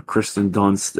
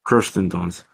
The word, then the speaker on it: Kirsten Dunst: saw Civil War, which was directed by Alex Garland and stars Kristen Dunst and did I say it right? Yeah, Kirsten Dunst, and I forgot.